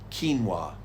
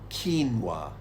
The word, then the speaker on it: quinoa: one which has become very popular recently it's pronounced quinoa quinoa now let's see if you can say this